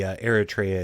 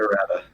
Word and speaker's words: errata: In the Eritrea, it's whenever she spends a hit die. I'm sorry, how did you pronounce that? Eritrea? Errata? I don't know. Errata.